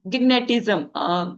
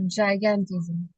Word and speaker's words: gigantism: suffering from the uh gigatism u sorry gnatism is not a correct pronunciation I think giantism right the person the person have very tall height okay uh it's uh gigantism gigantism sorry I just pruned Pronunciated is wrong.